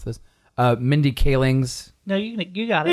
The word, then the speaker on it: Mindy Kaling's: for the uh and I'm probably going to mispronounce this uh Mindy kaling's no you you got it you got it